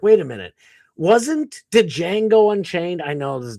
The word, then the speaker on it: Django: Did Django Unchained? I know this, the D is silent, knuckle.